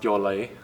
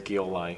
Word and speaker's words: Gyollai: So it's pronounced Gyollai. GMY is a letter back at home in the alphabet, so everyone gets it wrong. The usual one I hear is Gyollai, so that's probably going